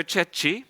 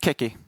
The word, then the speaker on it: Cecchi: And then we have Marco Cecchi. Did I pronounce that right? Almost. Keki. Keki. That was not even close to...